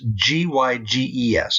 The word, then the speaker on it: Gyges: Herodotus tells of the legend of a man named Gyges of Lydia. That's g y g e s and it's pronounced Gyges.